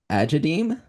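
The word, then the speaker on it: Agadeem: So, uh, it's pronounced swamp. Swamp. Uh, not quite. It's crypt of agedem. Agadem. Agadem.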